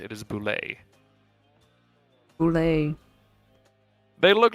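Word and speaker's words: bulette: And if you're wondering, yes, it is pronounced boule, not bullet or boulette. It is boule.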